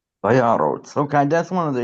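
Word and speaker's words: וַיָּרָץ: this is a closed syllable, unstressed. That's a kamatz katan. Vayyarots. Vayarots.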